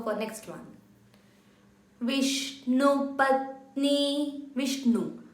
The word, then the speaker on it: Vishnu: Vishnu. Again, the na has to touch, the tongue has to touch at the upper portion of your mouth while pronouncing the na.